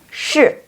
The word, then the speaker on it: 是: Itu dibacanya shi. Pinyin-nya gimana? SH, kemudian ada I. Tanda bacanya adalah tanda baca keempat. Dibacanya shi.